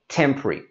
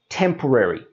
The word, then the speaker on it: temporary: Now there is a common mispronunciation of this word being said as temporary. And you can see how that is a long sounding word. So we drop out all of those middle letters and this becomes temporary.